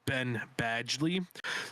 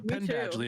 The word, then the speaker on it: Penn Badgley: by the U star Ben Badgley um I think that's how you say his name right Ben Ben badgely Ben 10 like a pen yeah like oh okay